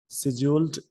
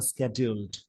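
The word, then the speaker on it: scheduled: The central leadership had स्केड्यूल्ड, इसको शेड्यूल्ड Indian इसका pronunciation है, शेड्यूल्ड ये ब्रिटिश प्रोनाउंसिएशन है, और स्केड्यूल्ड ये अमेरिकन प्रोनाउंसिएशन है।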